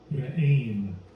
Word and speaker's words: Re'im: I guess that's how you pronounce it, right? Strong's H, 7214. Re'im.